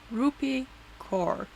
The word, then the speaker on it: Rupi Kaur: Rupi Kaur.